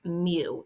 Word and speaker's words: mu: It looks kind of like a U here, but it's pronounced mu. It's a Greek M.